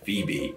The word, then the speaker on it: Phoebe: rid of that o what is that o even doing in the middle of phoebe anyway silent o's really do not appear all too often especially in the middle of words but here it does with the name phoebe how did it get there